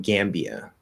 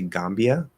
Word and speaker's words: Gambia: heard bhutan more uh gambia i think some people say gambia might be more british but gambia i would say gam and this isn't a